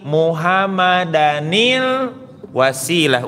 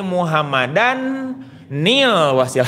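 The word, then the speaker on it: محمدًا الوسيلة: Naufalinil Asjai, Naufalinil Laut, ati Muhammadanil Wasilah. Jangan ucapkan Muhammadan nil Wasilah, itu salah. Seharusnya bukan Muhammadan, tetapi 'nil', karena tanwin masih ada dan 'nun' juga ada.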